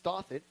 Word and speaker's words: Dothit: If you need any help pronouncing your name, it's Dothit, rhyming with goth.